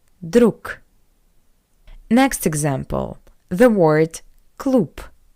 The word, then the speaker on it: друг: And the reason is that the voiced consonant G at the end of the word is read as a pair to it voiceless consonant K. G changed to K. Друг.